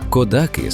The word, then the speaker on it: Кодаки: З наголосом на останній склад ви знайдете його в довідниках. Але тут, на місці для всіх, хто тут живе, це село завжди було і є кодаки. Ця маленька різниця у наголосі лише перша загадка цього місця.